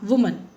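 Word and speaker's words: women: जैसे कि मैन, हाँ वुमन। इसको बोलने का भी तरीका मैं बता दूं आपको, वुमन को विमन कहते हैं, वुमन मीन्स singular, विमन मीन्स plural.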